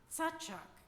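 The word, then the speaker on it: יצחק: laughter full bellied laughter satak they call it in Hebrew or as we have come to pronounce it Isaac Abraham and Sarah will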